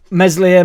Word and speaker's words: Meslier: I don't think Meslier silent S will be with us forever.